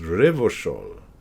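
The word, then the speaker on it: Revachol: Revochol is pronounced Revochol.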